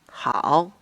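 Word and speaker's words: hǎo: The AO, which is pronounced as Ao, is a final. This little mark above the A is the tone. The whole syllable is read as Hao, which means good.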